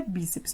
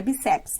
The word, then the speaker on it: bíceps: Lembrando que a palavra é bíceps, não é bíceps, né? Então, se a palavra é bíceps, a tonicidade está no bi.